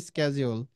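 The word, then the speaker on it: schedule: স্কেজল বাশিডিউল আমরাশিডিউল বলি বাট এটার সঠিক উচ্চারণ হচ্ছে স্কেজল বুঝতে পারছেন আমি ঠিক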